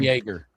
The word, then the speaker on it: Jaeger: I'd love to have some Jaeger. This is Jaeger. This ain't Jagger.